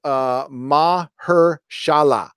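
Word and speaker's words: Mahershala: you Quintin Watts also new blades name is pronounced mah her Shahla so mashallah Ali thank you ma ma her shala uh I think it's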